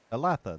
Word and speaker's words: Alatha: Alatha, that's how it is. I think I was right the first time when I pronounced it.